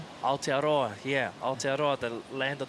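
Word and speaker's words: Aotearoa: Alteroa.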